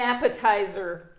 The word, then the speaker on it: appetizer: Et là, curieusement, le T, bon, il a dû se rebeller pour le coup, mais il est prononcé comme un T normalement.